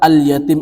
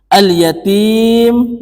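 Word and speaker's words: اليتيم: berharkat Sukun contoh misalkan alyatim ini dan lamnya itu tetap dibaca Sukun dan cara membacanya ituusel jelas makarijul hurufnya alyatim dan terakhir adalah Mad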